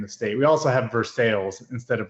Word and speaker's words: Versailles: I don't know how that started, but it's how everything's pronounced when you're here in the state. We also have Versailles instead of Versailles, if you were curious.